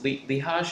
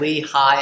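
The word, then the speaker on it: Lichaj: How old is Lehaj? Is that his name? It's Eric Lehigh, actually, is how Lehigh? you pronounce it.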